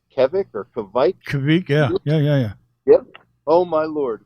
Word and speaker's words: kveik: We'll get some yeast, and we got some, is it pronounced Kveik or Kveik? Kveik, yeah.